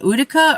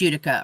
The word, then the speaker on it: Utica: thought it was pronounced utica or she was from utica okay that makes sense but she pronounces it utica no she pronounces it utica oh she does pronounce it like the town okay gotcha now this